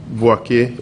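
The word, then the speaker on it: Boakye: How do you spell that? B-O-A-K-Y-E. Boachi.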